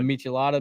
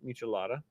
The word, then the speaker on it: Michelada: They chose the Michelada mix. Garrett learned how to pronounce Michelada. Oh, he was having trouble with that one. Yeah, he was calling it Michelada, like a Michelob.